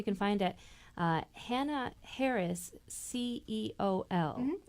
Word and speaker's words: ceol: Fiddle Forays, and you can find it Hannah Harris, CEOL. And that's pronounced Ceol. It means music in the Irish language.